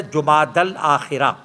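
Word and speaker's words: جمادی الآخرہ: الثانی کہا جاتا ہے، اصل میں اس کا تلفظ ہے جمادی الاخرہ۔ بہرحال یہ آپ کو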